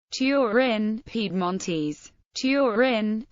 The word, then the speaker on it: Turin: Torin pedm Mones Torin pronounced tyin Lumbard turri Latin austor norum is a city